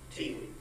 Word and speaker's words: Thi Le: For the record, my name is pronounced T. Lee.